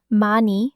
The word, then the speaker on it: 많이: Una cosa rápida: se escribe '많이', pero se dice '마니'. El coreano a menudo se escribe de una manera y se pronuncia de otra.